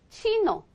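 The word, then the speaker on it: chino: 자 보세요 이해는 말이죠 스페인어에 또 다른 철자인데 발음 자체가 치예요 그래서 예를 들어 이거 있죠 이거요 치노 그리고 치노하면 중국 사람 중국어 스페인어는요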